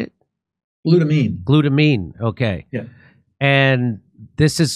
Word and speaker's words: glutamine: Glutamine.